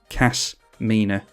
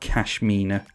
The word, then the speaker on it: Kasmina: of kasmina enigma sage i always want to say cash kashmina as in cashmere like she might wear cashmere robes i don't know but cass mina not cashmina yeah if i mispronounce